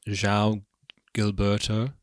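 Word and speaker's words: João Gilberto: um Sue George and um so how to pronounce his name Zhao Gilberto there's another one um he did an album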